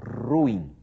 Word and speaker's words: ruim: sílabas separadas e ato e a pronúncia correta a pronúncia culta considerada culta aceita como culta é essa ruim é assim que se diz no padrão formal ruim é isso língua